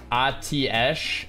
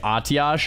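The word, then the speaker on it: Atiesh: lose all my gold khadgar says atesh so i guess that's how blizzard wants it to be said yeah khadgar wasn't up to date on the proper way to say it so yeah if khadgar wants me to teach him how to say atiash i can but um yeah he was mistaken man oof oh oh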